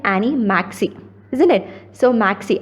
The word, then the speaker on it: MACIS: So Maxey, I am pronouncing it as Maxey.